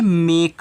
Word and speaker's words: make: आगे लिखा है MAKE। तो देखिए MAKE, तो ये आपका क्या है? मेक है। क्या है? मेक है। तो यम ए की मात्रा और के से आपका का हो गया आपका मेक। तो यहाँ भी आपने ई का प्रोनाउंसिएशन नहीं किया है, तो ये मेक है।